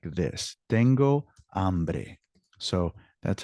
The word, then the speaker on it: hambre: Tengo hambre. So that's how it's spelled in the chat.